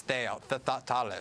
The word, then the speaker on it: Thales: and then in France, the leading one is Thales, is the French pronunciation, I believe.